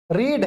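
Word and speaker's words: read: Depend करता है कि अगर जैसे ये पास्ट में जाता है तो ये रेड बन जाता है, इसको क्या प्रोनाउंसिएशन होगी, रेड, रीड, रेड, रेड।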